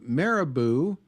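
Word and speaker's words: Marabou: This is in fact uh Maribou, which apparently is pronounced like caribou but with an M.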